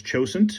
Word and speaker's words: Cosaint: it is so anyway coane arms I'm probably saying it wrong I know that a lot of people are saying it's chosen uh because that's the Gaelic pronunciation uh I like Coan but anyway uh Greg